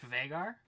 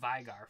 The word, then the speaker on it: Veigar: it but it is it's pronounced bigger it's pronounced vegar yeah you sure yes i've been saying vigar forever it's ei vagar sounds weird there's a